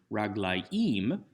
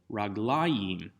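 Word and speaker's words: רגליים: The difference is because the accent doesn't shift all the way to the end of the word, raglaim, but to the second to last syllable, raglayim.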